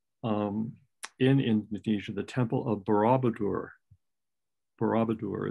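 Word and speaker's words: Borobudur: the famous temple in indonesia the temple of barabadur barabadur it's spelled b-o-r-o-b-u-d-u-r temple indonesia 7th century a.d and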